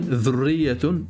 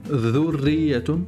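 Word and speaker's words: ذرية: Dhal, dhurriyatun, dho. Ici, il y a une dhamma, donc on prononce dho, dhurriyatun, dhurriyatun, dhurriyatun.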